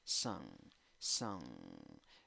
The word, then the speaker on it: sung: Sung, sung. pero no es con N al final, es con N más G, es una fusión, son. Entonces el sonido nasal se alarga.